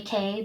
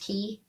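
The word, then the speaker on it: Castaway Cay: Disney island Cast Away K but it's pronounced key key k k and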